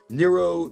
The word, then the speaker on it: Nero: Who's Neuron Caesar? Neuron Caesar. Am I saying it right? Interestingly, some early manuscripts contain 666. Nero Caesar. Nero. Nero. Uh, in ancient ancient Rome, right? Nero. Nero, the the the the Roman leader.